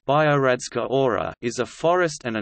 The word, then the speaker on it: Biogradska Gora: Biogradska Gora, pronounced Biogradska Ora, is a forest and a national park in Montenegro within Kolašin municipality.